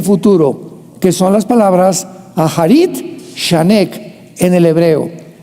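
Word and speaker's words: אחרית: que son las palabras Aharit, Shanek en el hebreo. Se escribe Acharit, A-C-H, tal como suena.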